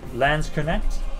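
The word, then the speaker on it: Landsknecht: to be a landscaper it's pronounced like connect okay so lens connect hey because my brain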